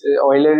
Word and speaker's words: Euler: little difficult to pronounce yeah but the actual pronunciation is yeah yeah so people do call it I mean Euler is the right name we named it after